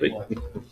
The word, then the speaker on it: Piqua: Well, between us, we decided it was Piqua, so that's what it's gonna be. Piqua.